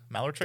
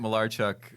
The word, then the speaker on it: Malarchuk: so this guy Malarchuk, I think Clint is- Malarchuk.